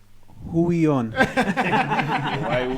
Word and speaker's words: Huion: Huion. Yes, that's whatever. That's how you pronounce it.